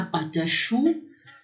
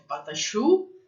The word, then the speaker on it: pâte à choux: A patachu, né? Que às vezes falando rapidamente que é patachu, parece que é pata, né?